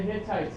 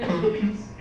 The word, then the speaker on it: Hittites: he defeated the Hittites he defeated the Hittites not the hitties it's the Hittites why looks like it's not it's Hittites I'm telling you how to pronounce Hittites it's Hittites it's not hi yes what else we